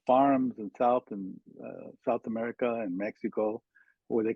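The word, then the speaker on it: México: which really the pronunciation of Mexico is Mexico, right? Right. Because the X is sh, right?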